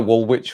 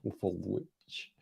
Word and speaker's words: Woolwich: Second W is silent.